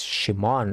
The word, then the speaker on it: Shimon: He's not Simon, he's Shimon. I think that's the pronunciation of his name.